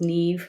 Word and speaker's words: Niamh: It's an Irish name, so it's spelt not the way it sounds. It's Niamh, like Steve.